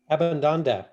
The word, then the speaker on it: Abbandando: I have here Maione and How is it pronounced? Abbandando? Abbandando.